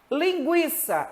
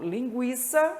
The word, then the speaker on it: Linguiça: Linguiça, não é dígrafo, o U é pronunciado.